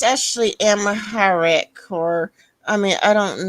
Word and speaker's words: Amharic: How is it pronounced? There's apparently 32 million speakers. Um, Amharic is apparently how it's supposed to be pronounced. Amharic.